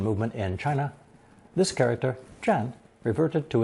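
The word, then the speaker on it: 佔: But with a person radical 人 added on the left, pronounced 4th tone, 占.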